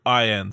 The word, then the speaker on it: Gloin: They had a whole scene in the last movie to The point way that it's spelled out. is Gloin.